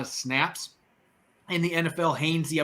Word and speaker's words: Hainsey: Hainsey, I believe is his name's pronounced, not Hainsley.